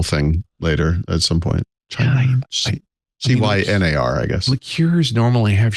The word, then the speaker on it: Cynar: I already know the answer to this question, but I was recently introduced to something I believe is pronounced Cynar. It's like CENAR.